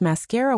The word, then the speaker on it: mascara: How do you pronounce mascara wand? The answer is mascara wh. Let's take a minute to get this pronunciation perfect. Mascara has three syllables. The stress is on the middle syllable again.